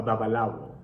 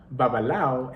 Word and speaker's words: babalawo: So, Orunla communicates with humans through divination with a babalawo. Babalawo, or babalao in the West African pronunciation, literally means father of the mysteries in the Yoruba language.